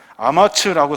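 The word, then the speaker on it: אמץ: 담대히라는 말은 아마츠라고 사용하는데 무릎, 이 무릎에 힘이 있는 상태를 말해요.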